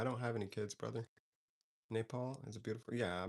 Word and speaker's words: Nepal: I think I'm pronouncing that incorrectly. Napole. How do you pronounce? Let's ask Siri. Nepal.